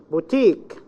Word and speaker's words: boutique: Boutique. The last syllable.